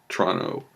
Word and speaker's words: Toronto: Toronto Teta parts to free are ont Oh Toronto as Torontonians say it and pronounce it this was in 86 and I